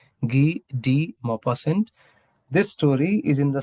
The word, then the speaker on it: Guy de Maupassant: That's the pronunciation of this French name, Guy de Maupassant.